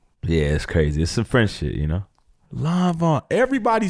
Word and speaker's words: Lanvin: Yeah, how do you sit down with Lanvin? Oh, man, that's like... Lanvin, my bad. Lanvin.